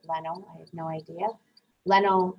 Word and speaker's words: Leno: didn't know jay leno i would look at that and pronounce it lino but i'm going to pronounce it leno i have no idea